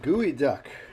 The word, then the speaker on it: geoduck: as you can see the gooey duck geoduck as it's spelt and supposedly a great